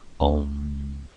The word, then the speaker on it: Om: or is also symbolized by the word Om, pronounced Om.